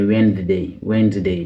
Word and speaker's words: Wednesday: Wednesday moom moo nekk àllarba Wednesday donc dee bi du Wednesday mais Wednesday dee bi kenn du ko lire silent letter bu ci tegu moom